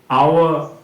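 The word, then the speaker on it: hour: এই তিনটা ক্ষেত্রে তো দেখলেই অনেস্ট, আওয়া, অন এগুলো কিন্তু সব অ দিয়ে উচ্চারণ হচ্ছে হনেস্ট হাওয়ার হনার এরকম কিন্তু আমরা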